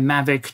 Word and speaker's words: Mavic: Jury is still out on whether or not the pronunciation should be changed to Mavic while in Slavic service.